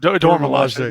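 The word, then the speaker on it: Dora Milaje: Dormilaje.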